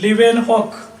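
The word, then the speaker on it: Leeuwenhoek: Okay, आता या ठिकाणी मायक्रोबायोलॉजीचा फादर आहे लिवेनहॉक. लिवेनहॉक स्पेलिंग पुन्हा एकदा बघा, LEEU LEEUVANHOEK.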